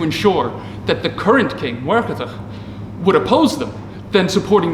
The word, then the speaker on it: Muircheartaigh: current king of Thomond, Muircheartaigh O'Brien, or Murtagh O'Brien. I'm going to use the Irish forms, or try to use the Irish pronunciations as best I can, but there it is, Muircheartaigh O'Brien.